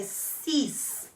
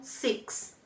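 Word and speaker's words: six: na galp número 6 cuidado pra não pronunciar como o inglês então é fiz e não seix mesma coisa para dez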